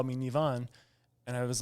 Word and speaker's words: Nivan: so for the whole program people call me nevonne and I was like this just feels right